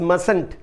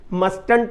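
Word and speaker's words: mustn't: आगे भी इसके कंस्ट्रक्शन है, subject plus can't plus infinity without to, subject plus मसंट, मस्टंट नहीं कहते, टी साइलेंट होता है।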